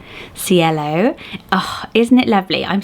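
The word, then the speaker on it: Cielo: is lovely back to Spanish and it's named cello cello oh isn't it lovely I'm so tempted to say CEO but you when I looked at the pronunciation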